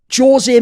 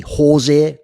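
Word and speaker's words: José: by the way, is in a Spanish country, someone whose name is like his would be Jose, like with an H pronunciation. If you're from Portugal or Brazil, you say Jose, hence Jose Aldo in MMA, as opposed to Jose Aldo if he'd been Mexican or something similar.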